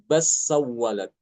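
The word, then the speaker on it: بل سولت: Bal sawwalat dibacanya bas sawwalat.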